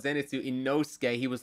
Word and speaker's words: Inosuke: so now she just remembers it, so she's Imosuke, calling, Iwosuke, yeah. Ikosuke.